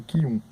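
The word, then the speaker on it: Chiun: Esse Qiun aí, que se escreve Chium, como eu falei, e se lê Qiun, tá?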